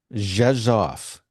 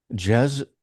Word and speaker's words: Rzeszów: Rzeszów. Yes. Wow. Rzeszów j e it sounds like j e s o f f.